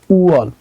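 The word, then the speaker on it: 월: শিখতে হলে আপনাকে সর্বপ্রথম এই ওয়ার্ডটা শিখতে হবে উয়াল মানে হচ্ছে মাস উয়াল মানে হচ্ছে মাস উপরে ইয়ং আছে তাই ইয়ং উচ্চারণ হবে না নিচে আছে উ আর এখানে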